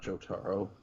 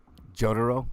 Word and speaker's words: Jotaro: about on the show not joe taro jotaro oh well i don't know man i haven't seen the series man don't that's how it's pronounced damn it man semantics